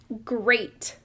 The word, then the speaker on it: great: This next word, it says, great. Did you hear the long A sound in the middle of that word?